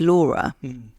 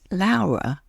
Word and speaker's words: Laura: that's the other thing my name is Laura if you're English and it is spelled the same way of as as my actual name which is laara which is the Italian way of saying Laura so from the moment